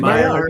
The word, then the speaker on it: Maillard: I believe that word's pronounced Maillard. Am I correct? Yeah. Maillard. Maillard, yes. Like the Maillard. Maillard reaction.